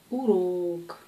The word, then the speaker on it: урок: Урок. C'est pas урок. Урок. Урок. En russe, l'accent peut frapper n'importe quelle syllabe.